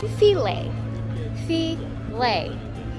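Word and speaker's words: Philae: pool um yeah filet filet with a space in between apparently that's how you pronounce it foreign we got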